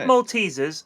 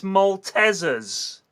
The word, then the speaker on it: Maltesers: So, sorry Sorry if I shattered the glass, but you're all pronouncing Maltesers wrong. It's not Maltesers, it's Malteasers.